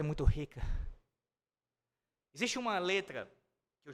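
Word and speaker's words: χ: do alfabeto grego, de Ki, ou, como eu disse, a pronúncia dele é de Ri. Esse som gutural, como um alemão falando, por exemplo, até mesmo a própria fala hebraica de muitas palavras hebraicas.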